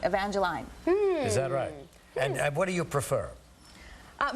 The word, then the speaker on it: Evangeline: think it's you know I think Evangeline is more a Canadian expression or pronunciation of the name because here everyone wants to call me Evangeline what do you prefer